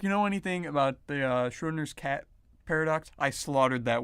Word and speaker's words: Schrödinger: So if you know anything about the Schrodinger's cat paradox, I slaughtered that word, but I'm gonna gloss over that.